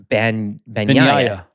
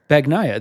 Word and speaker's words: Bagnaia: And sure enough, an NG together in Italian is like a ya sound. Bagnaia. Bagnaia. And if you were saying a G sound? Bagnaia.